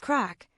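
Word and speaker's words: craic: It's an art form pronounced crack. This Irish word means fun, but it's so much more.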